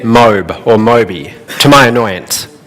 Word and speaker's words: MOBE: And everyone started calling it MOBE or MOBE, to my annoyance. I said, no, it's pronounced My Online Business Empire.